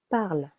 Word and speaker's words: parles: Tu parles. Silent S.